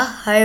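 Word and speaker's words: her: हिम बस यही right हर यह हेयर नहीं होता हर होता है वह देर की आवाज़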